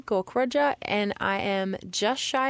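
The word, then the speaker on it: Gaukrodger: my last name is gork Roger and it is long and confusing it's kind of pronounced just as it's written gork Roger and I am just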